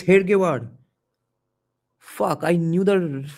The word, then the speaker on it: Hedgewar: It's Hedgewar, not Hegdewar. Holy shit. All this while I knew it was Hegdewar. Let's see what's the spelling here. It's Hedgewar.